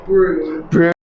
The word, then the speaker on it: Brougham: the way quick kick quick correction you said brom it's actually pronounced broom thank you everyone for watching for those what